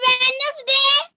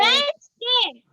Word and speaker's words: Wednesday: Ma'am वेडनेसडे, नहीं बेटा, when बोलो, when वेंसडे, ठीक है। Wednesday, यहाँ देखो लिखा है ना, हिंदी में भी आपका यहाँ पे प्रोनाउंसिएशन लिखा हुआ है वेनसडे, जिसको आप क्या बोलेंगे, वेंसडे, ठीक है। डी नहीं रहता है इसमें, डी आपका साइलेंट रहता है।